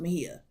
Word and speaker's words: Mejia: I think it is pronounced Mejia. Mejia.